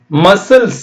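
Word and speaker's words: muscle: scissors இது பாருங்க மசில் மசில்ஸ் அப்படின்னு சொல்லுவாங்களா மசில் தசை தசை எம் யூ யூ க்கு ஆ சத்தம் மா இஸ் இல் அவ்வளவுதான் இ சைலெண்ட் இங்கயும் சைலெண்ட் இந்த சி சைலென்ட் மசில் இங்க என்ன தலைப்போ அதை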